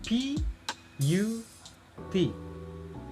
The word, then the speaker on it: put: Misal C U T, bacanya cut, jadi A ya, cut. Ada P U T, tapi bacanya put.